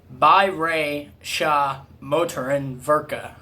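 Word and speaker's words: Bayerische Motoren Werke: pronounce it let's see you pronounce it in germany you say by rey shah motor and virca by racial motor and verka that's how you say bmw in germany correct me if i'm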